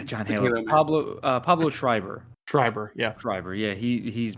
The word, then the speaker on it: Schreiber: Pablo Schreiber.